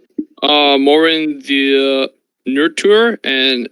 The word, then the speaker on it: Marwyn: Morin the Nurture, and it's a female. Morin. Can you spell that for me? Yes, sir. MARWYN. Marwin.